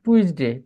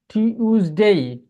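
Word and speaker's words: Tuesday: তারপরে এটাকে আমরা বলতাম হচ্ছে টুইসডে, টুইসডে না বলে এখন বলবো টিউজ, টি, টি, টিউজডে, টিউজডে। তারপরে আপনি এটাকে বলবেন হচ্ছে ওয়েডনেসডে, আগে বলতাম ওয়েডনেসডে, তাই না।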